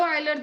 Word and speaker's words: Euler: I repeat, dz follow, कुछ लोग यूलर theorem भी कहते हैं, इसकी स्पेलिंग में यूलर है एक्चुअली, तो आप यूलर थ्योरम भी कह सकते हैं। तो इट फॉलो यूलर, चलो मैं बोल देते हैं यूलर थ्योरम, हम लोग आइलर ही बोल देते हैं एक्चुअली।